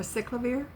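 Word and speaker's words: acyclovir: A cycllover is that I think it's how it's pronounced.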